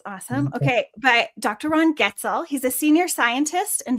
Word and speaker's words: Goetzel: Ron Gotzil. I forgot to ask you if that's how you pronounce your last name. Did I get that? Get is the way to pronounce it. Getel.